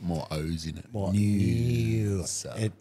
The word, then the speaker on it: Noosa: More Noosa. It needs an N-E-W-S-A. If they could spell it properly, I'd be so much happier with them.